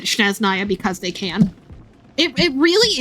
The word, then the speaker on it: Snezhnaya: So, like, it's not unbelievable that even though, yeah, the spelling was pretty obviously Snezhnaya, that they just pronounced it Sneznaya because they can.